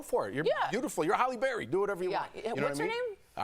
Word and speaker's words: Halle Berry: It goes Halle Berry. I had to pronounce it wrong? Yeah, Halle Berry. Halle Berry. Halle. Hallie?